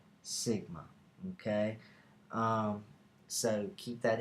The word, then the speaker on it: sigma: pronounced it's a greek letter and it's actually pronounced sigma it's actually pronounced sigma okay um so keep that in mind uh